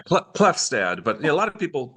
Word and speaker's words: Klefstad: And today I have a very special guest, Dan Klefstad. Hi, Dan. Great to be with you. Did I say it correctly? You did, yeah, Klefstad.